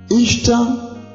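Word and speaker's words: Ishtar: Ishta hutamkwa kama Easter.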